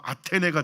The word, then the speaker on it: 아테네: 그러니까 뭐 헬라어로 발음하면 아덴이 되는 거고, 이제 오늘날 이제 영어식 발음으로 하면 아테네가 되는 거고, 어쨌든 똑같은 도시입니다.